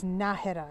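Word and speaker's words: Nájera: Well, this answers a question I've been having in my mind as to whether it was Najera or Najera. And I see here there's an accent on the A, so it's Najera.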